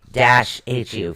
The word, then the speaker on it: Fehu: Now, your first rune is actually spelled Fehu. Okay. Fehu. But it's pronounced Feyu. Fayu. Yes, it's pronounced Fay-Hu.